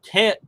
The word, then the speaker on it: Taoism: JMD Apologetics 101, who I've interacted with a couple times, is, are you, Alpha, drawing any metaphysics from Taoism? Yeah, it's a D, even though it's a T.